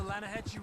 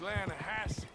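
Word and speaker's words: Lannahechee: The other day, I rode down to the Linde River. I caught some beautiful steelhead trout. You mean the Lanahassee River? No. The Linde. It runs right near here. Yeah, but it's pronounced Lanahassee.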